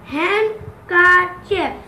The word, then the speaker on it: handkerchief: Handkerchief. Handkerchief. So, D, da is silent here.